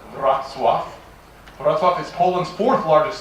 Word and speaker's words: Wrocław: Surprisingly, except to Poles, pronounced Wrocław.